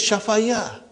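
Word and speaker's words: شفا: pronouncing actually it is shafaya okay but the lam kalima is ya it is nakis so we pronounce it as shafa shafa but then when you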